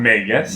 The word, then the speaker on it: Magus: I'm going with Magus. That's the pronunciation.